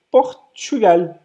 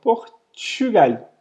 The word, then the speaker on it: Portugal: Então, vai ser Portugal, com esse uzinho que eu vou falar um pouquinho mais fechado aqui, e o L no final que eu pronuncio. Então, eu falo Portugal. Portugal.